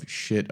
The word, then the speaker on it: Schiit: It is spelled much differently because today's interview is with Jason Stoddard of Schiit Audio, spelled SCHIIT. It's supposed to sound that way.